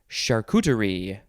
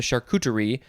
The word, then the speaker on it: charcuterie: this food next is charcuterie this is kind of you know it's a french word it's uh doesn't necessarily look like it's uh pronounced c-h-a-r-c-u-t-e-r-i-e charcuterie noun from